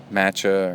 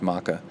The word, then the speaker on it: maca: people that don't know uh gourmet um vegan health foods, we call that um matcha or maca, but it's maca and uh quinoa.